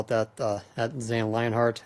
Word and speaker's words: Lionhart: it that, at Zane Lionhart. That's H-A-R-T, not H-E-A-R-T. I had to switch my pronunciation of the last name when I switched over from Odin to Gilgamesh back in 2014.